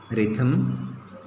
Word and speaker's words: rhythm: Coast, night already we have written, here it's also silent, night, rhyme, rhythm. Okay, in all these words we understand H as silent. Okay, how to pronounce this?